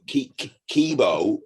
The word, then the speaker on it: Kibo: gonna get wrong but kibo it's got an O on the end okay kibo basically if